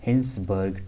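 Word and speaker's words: Hinsberg: ये इतना important test नहीं है, बट इसके बाद एक टेस्ट है जिसको बोलते हैं हम हिंसबर्ग टेस्ट, या हाइजेनबर्ग के नाम से प्रोनाउंस करते हैं लोग।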